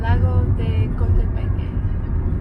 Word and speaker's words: Lago de Coatepeque: Today we are in an Uber and we are heading to Lago de Coatepeque. I think that's how you pronounce it.